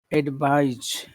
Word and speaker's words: advise: ad- so number two is advise, advise, Advise, like a B.